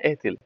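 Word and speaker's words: ethyl: देखो इतने का नाम C2H5 का नाम है एथिल। साधारण नाम में क्या बोलते हैं इसको? एथिल, एथिल क्लोराइड या इथाइल क्लोराइड भी कह सकते हैं, ठीक है ना। एथिल या एथाइल हमारे प्रोनाउंसिएशन पे डिपेंड करता है, ठीक है ना।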